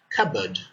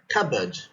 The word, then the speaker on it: cupboard: middle of a word cupboard cupboard cupboard here the p is silent or the letter p is silent all right not cupboard